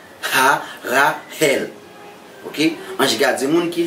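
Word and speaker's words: Harahel: Le son H, fait H la sortie, ok? Ha-Ra-Hel.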